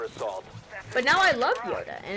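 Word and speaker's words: Jöda: But it's pronounced Yoda still, okay? Because the J's in Swedish sound like Y's or something, but I don't care.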